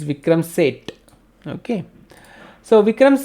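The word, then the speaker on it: Vikram Seth: pronounce sait or saith say it so he pronounced it say it correct it's vikram set okay so vikram said very modern writer in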